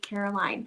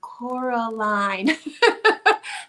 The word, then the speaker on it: Coraline: showing you oh and I just said it wrong Coraline that's a part of the movie she gets very upset when people call her Caroline because her name is Coraline we have that in